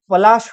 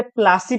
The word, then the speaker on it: पलाश: fact हम देखें तो प्लासी का ओरिजिनल नाम पलाश हुआ करता था जबकि ब्रिटिशर्स उसे प्लासी प्रोनाउंस करते थे क्योंकि वहां पर